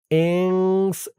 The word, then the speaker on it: إنس: استكثرتم من الإنس إنس খেয়াল করুন উচ্চারণটা ইংস এখানে ইকফা গুন্না হবে ইং লাস্টে সিনের আওয়াজটা একটু বের হবে ইংস يا معشر الجن